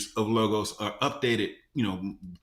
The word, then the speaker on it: Logos: now and so so it is logos not lagos so you know you asked some of the scholars on the team and that's like oh it's lagos you know that's that's how you say it i i always say logos yeah and sometimes i